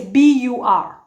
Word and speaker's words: bur: same way, which is B-U-R. There's no ru at the end, like in actually and Luo and the Luo. There's no ru. It's just bur, bur. Stop there. Bur, like bur.